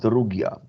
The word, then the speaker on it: Rugia: Now, is it pronounced Rugia or Rugia? Actually, I pronounce it Rugia, okay, Rugia.